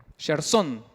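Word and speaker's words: Gersón: hijo que es pelota jerson pero con acento en la o gerson se llamaba el hijo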